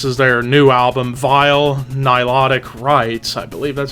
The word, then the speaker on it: Nilotic: Now, of course, this is their new album, Vile Nilotic Rites.